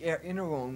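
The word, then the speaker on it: Erinnerung: Ich bin staubig errinerung, man.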